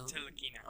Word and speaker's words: Ntilikina: Hey, you could have just drafted him, but instead you took Frank how do you pronounce it? Ntilikina.